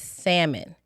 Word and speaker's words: salmon: body and delicious is salmon. Not salmon. Say it again for the people in the back. Salmon. The L is silent.